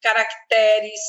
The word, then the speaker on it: caracteres: E aí vai todas essas palavras aqui elas são paroxítonas acentuação tônica vai est aqui ó avaro avito aziago pavo Bolivar caracteres celtiberos Ciclope culpido e assim por diante treinar bota ali na penúltima sílaba sempre treinar eu deixei